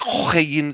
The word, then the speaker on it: Huygens: Yeah, it's a very hard H. It's like Huygens.